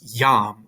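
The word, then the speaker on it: iam: the english word yes so if you look in green you have i a m that's pronounced yam right so it's because you have that i followed by a vowel it makes a yes sound later on you're going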